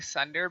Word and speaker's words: Svnder: It's really Sunder, but it's spelled SVNDER.